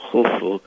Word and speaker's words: Khufu: sieve that is pronounced so it's U, F, U, Khufu, which we call Cheops in English.